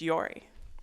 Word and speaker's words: Jori: Our next speaker is Yori, and Yori is spelled Jori. It's Yori.